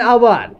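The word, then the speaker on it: hour: Dash dash आवर, एच से start हुआ है लेकिन यहां पे वॉवेल साउंड आती है, एच साइलेंट रहता है, यहां पे ओह की आवाज आती है, एन आवर।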